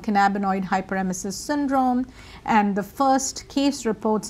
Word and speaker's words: cannabinoid hyperemesis syndrome: to something called hyperemesis so you mentioned uh cannaboid hyper mesis syndrome which I didn't pronounce even close so say it and then what is it so it's a canabo hyperemesis syndrome or CHS so you can just call it